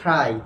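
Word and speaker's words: try: ট্রাই করি, কি ট্রাই, আমরা জানি টি এর উচ্চারণ কিন্তু ট হবে না, কি হবে বলতো ঠ হবে, তাহলে এটা সঠিক উচ্চারণ হবে কি বলতো ট্রাই, কি হবে ট্রাই।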